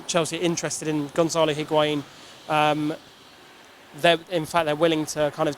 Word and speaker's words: Higuain: We know that Chelsea are interested in Gonzalo Higuain. They're willing to kind of trade Alvaro Morata for him. Is Higuain how you say it then?